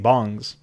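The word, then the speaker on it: bang: land cafes these PC bongs and 420 it up and one of the thing I thought I was called but well it's it's apparently pronounced bong even though it's spelt with an A I don't know how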